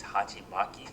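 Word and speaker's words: 鉢巻: It's supposed to resemble a Japanese hachimaki. Don't quote me on the pronunciation, but I'm pretty sure that's how you say it and that's just a Japanese style headband, I guess.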